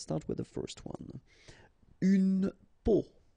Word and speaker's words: peau: Une peau. And here you have the meaning in English. Une peau. Un pot.